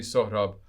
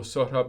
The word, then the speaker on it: Sohrab: could mispronounce my name no teacher has ever called me sohrab properly somehow at elementary school shorthab got turned into surab just like it sounds sir then ra like sir elton john by the fourth